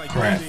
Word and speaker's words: Crakk: today and uh may you please reintroduce yourself crack AE crack but for most part everybody know